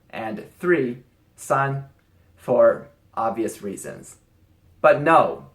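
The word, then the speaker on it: 三: also going to include two R and three son for obvious reasons but no the number four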